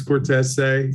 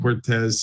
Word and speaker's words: Cortese: Yeah, so it's Vince Cortese. That's it, the proper pronunciation. We were raised Saint Cortez, so we go with what Dad said.